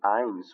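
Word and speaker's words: eins: په الماني ژبه کې یوه ته آینس ویل کېږي. آینس دا قوس کې ما هغه پرونانسیشن یا تلفظ ورسره لیکلی دی.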